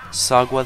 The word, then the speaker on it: Sagwa: Clifford's Puppy Days, Boopa, Sagwa the Chinese Cat. Yes, that's how that word is pronounced.